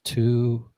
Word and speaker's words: Tualatin: Tualatin? Tualatin. I feel like Ryan Holiday trying to pronounce towns and just gets made fun of. Someone says wrong. All right, Red Pen says Tualatin.